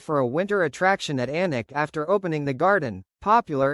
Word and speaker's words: Alnwick: When we started the Anik Garden, no journalist could pronounce Anik, they all said Alnwick.